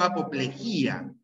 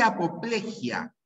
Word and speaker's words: apoplejía: lados bien Es monocromo lo mismo ocurre con apoplejía ya no hay no existe apoplejia como muchos dirán ya es apoplejía apoplejía siempre siempre apoplejía vivieron engañados por el acento bien ya acostúmbrese hecho